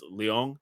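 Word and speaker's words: Leung: Ratner regular uh Ken I think it's Leong is how you pronounce it.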